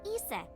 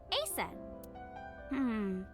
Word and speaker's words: Isis: Horace's mom is named Isis, but in ancient Egyptian, it's pronounced closer to Ise or Asen.